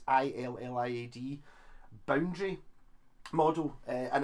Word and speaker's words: Iliad: i think it's pronounced i think it's ill iad boundary model and it's